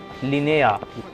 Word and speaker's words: Linnea: अच्छा प्रोनाउंस ऐसे करना है, लिनेया.